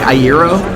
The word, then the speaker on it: Iero: I say Frank Ayro. Iro. Okay.